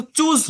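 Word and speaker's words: chose: Farmer রহিম চোজ, এটা কিন্তু চুজ না, CHOOC, চুজ মানে পছন্দ করা, চোজ, এটার উচ্চারণটা কি? চোজ।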